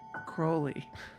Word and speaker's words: Crowley: It's pronounced Crowley.